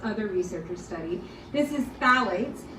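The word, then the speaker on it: phthalates: researchers study this is phalates so the p in phalates is uh is silent um and these are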